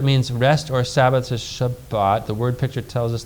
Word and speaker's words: Shabbat: the word for Sabbath how do you say that if you're a he if you're a Jew Shabbat right so how's that going